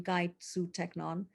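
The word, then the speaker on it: καὶ σύ, τέκνον: too my child and it's not that ed two brutus that we've read in shakespeare he didn't speak latin he spoke greek it would have been kaitsu technon so he's saying that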